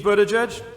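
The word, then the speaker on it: Buttigieg: chance to be here my name is Pete footage edge spent the first six months of this year helping people pronounce it and I think we're there but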